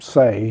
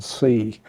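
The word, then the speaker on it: Seay: Reverend Solomon say uh the Reverend pronounced his name say he said I can say better than I can see um but his son the lawyer the um the white branch and and some of the black branches of the sea family pronounced it SE and so he did uh but at any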